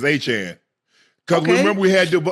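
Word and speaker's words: Achane: It's like Jackie Chan.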